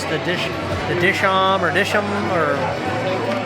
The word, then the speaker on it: Dishoom: And we asked, the proper pronunciation is Dishoom. Like, duh, it's got 2 O's.